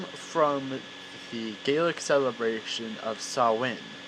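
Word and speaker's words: Samhain: the gaelic celebration of sawing which is not spelled how it's pronounced because it's gaelic and yeah so they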